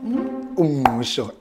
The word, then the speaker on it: uMngqusho: Now, how do we pronounce it? uMngqusho and chicken.